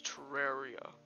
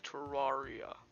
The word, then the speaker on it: Terraria: Terraria by accident uh the correct pronunciation is Terraria not Terraria oh no screen zooming